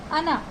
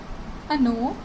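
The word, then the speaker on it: оно: यहाँ पे stress second vowel पे है, यानी ओ पे है, तो अगर ओ पे स्ट्रेस है तो उसे हम ओ ही प्रोनाउंस करेंगे। बट जो फर्स्ट वॉवल है वो भी ओ है, बट उस पर कोई स्ट्रेस नहीं है, तो उसे हम आ की तरह प्रोनाउंस करेंगे, यानी कि अना एंड अनो।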